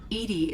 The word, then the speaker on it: EDI: Edy is the phonetic pronunciation of EDI.